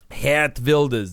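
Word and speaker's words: Geert Wilders: 25 years in Parliament he vas could be about to become the new he vas that's actually how you say his name Prime I'm going to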